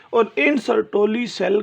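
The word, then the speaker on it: Sertoli: These V shape cells basically are known as द सर्टोली cells. सर्टोली cells, इनको सर्टोलाई भी पढ़ा जाता है बच्चों, सर्टोली भी ज़्यादा प्रोनाउंसिएशन सर्टोली।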